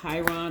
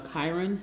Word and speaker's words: Chiron: Aries, we're going to be talking about the minor planet Chiron or Chiron, however you want to pronounce it. Either or is fine.